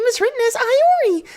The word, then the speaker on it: Iori: inform you that her name is written as I re not Laurie where were you at the beginning